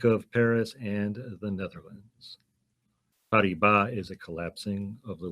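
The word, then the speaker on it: Paribas: September 14 2016 BNP parba I don't know how other people pronounce parba that's how it would be in French p a r i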